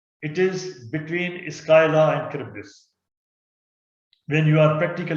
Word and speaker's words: Charybdis: Although it's written as Charybdis, but it's pronounced as Charybdis, Scylla and Charybdis.